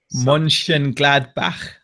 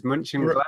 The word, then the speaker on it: Mönchengladbach: He's trying to get us to pronounce Mönchengladbach. Oh, isn't that a German football team? It is Mönchengladbach. Yeah, is it Mönchengladbach?